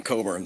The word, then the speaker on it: Cockburn: Well, you don't even know how to pronounce the name Coburn.